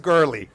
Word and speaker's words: Gurley: And that is pronounced Gurley. It's Hannah Gurley.